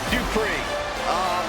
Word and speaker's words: Dupree: Here comes the talented Maxine Dupree. Michael, it's pronounced Dupree.